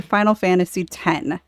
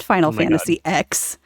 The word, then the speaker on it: Final Fantasy X: debate on your show it is not Final Fantasy X no it is out of here it's not it's not Mega Man X it's ten ten and ten two those are the two